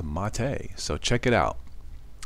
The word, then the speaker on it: MATE: It is pronounced Mate, so check it out.